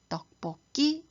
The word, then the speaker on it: 떡볶이: 올라가서 끼 소리가 납니다 그래서 바로 막힐 때 떡볶이 이렇게 발음 하셔야 정확한 발음입니다 잘못 사용하기 쉬운 발음의